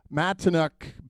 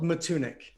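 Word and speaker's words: Matunuck: Correct me if I'm not, but Matineuk Beach in Is that correct? Close. It's called Matunic. Matunic Matunic, of course.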